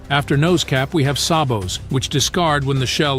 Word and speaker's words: sabot: So, and now we have sabbat similar to rabbit. Premier Acutip bonded sabo slugs.